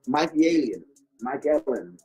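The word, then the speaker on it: Mikaelian: You know, Badu Jack, man, and Mike Ellen. Yeah, that's how you say it, Mike Ellen.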